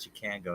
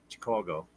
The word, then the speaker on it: Chicago: it different there Chicago it's not Chicago it's Chicago coo Chicago because uh Chuck buddy that sings and plays keyboards uh my buddy there uh he's from Chicago and that's how he pronounced is it so white socks thank